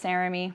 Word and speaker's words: Saramy: And that's my name, by the way, it's Saramy, rhymes with Jeremy.